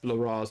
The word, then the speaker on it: Larraz: God, I'm going to pronounce his name wrong, but Pepe Larraz. Larraz, there you go, and RB Silva.